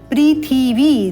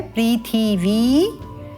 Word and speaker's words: पृथिवी: पृथिवी, ध्यान देंगे यहाँ पर पृथी, ई का स्वर है, पृथिवी।